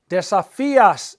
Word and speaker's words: desafía: Desafías, you challenge. Desafía, all three of those have an accent mark on the I.